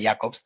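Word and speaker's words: Jakobs: Jacobs, en realidad se pronuncia Jacobs, que era un central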